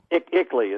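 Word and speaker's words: ICLEI: for local environmental initiatives is that icely how do they pronounce it or iiy what is it iiy is is the way and it is Icky as well isn't it that's what that always makes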